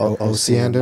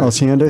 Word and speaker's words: Osiander: How do you pronounce the name? Kurt Osiander. Osiander.